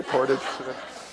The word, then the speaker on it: Portage: I learned that's the correct way to say Portage.